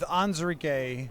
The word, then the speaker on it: Onwuzurike: Uh with Onwuzurike, that's correct pronunciation, yes?